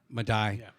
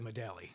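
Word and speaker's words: Medaille: forgot you went to how do you pronounce that madai madai University and it looks like medallie it does that was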